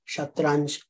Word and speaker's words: shatranj: And that's how we get the modern word for chess, shatranj. Chatrang becomes shatranj to suit Arabic pronunciation.